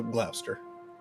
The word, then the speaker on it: Gloucester: It's spelled Gloucester with a C. So, Gloucester.